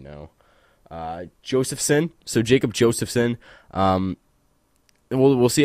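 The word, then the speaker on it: Josefson: Josephson.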